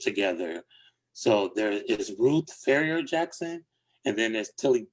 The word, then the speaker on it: Farrier: Is it Farrier Couture? Yeah, like with the ER, like Farrier, Oh, Farrier.